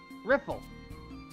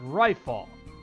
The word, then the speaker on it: Riffle: Riffle. Hey you, private second class. My name is pronounced Rifle. Rifle. It's not that difficult.